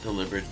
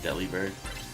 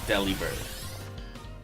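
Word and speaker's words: Delibird: For the longest I used to call um deliberate deli bird. I didn't know how to pronounce it.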